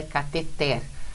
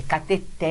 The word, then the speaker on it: cateter: é a resposta porque o certo mesmo é cateté as atrações para mim mas os médico fala que afeta ele ele fala errado É cather ele fala errado mesmo aqui ó é uma oxítona terminada em R não leva acento e